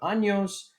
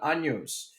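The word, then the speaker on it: años: this is important and careful with the pronunciation of anos because ano is an anus and we don't want to have 15 anuses we just want to have 15 years so careful on anjos all right the next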